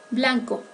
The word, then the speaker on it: blanc: Blanco, blanc pour les masculins et blanche pour les féminins. Ambas formas se pronuncian con la vocal nasal un, vocal producida por la siguiente combinación de letras AN.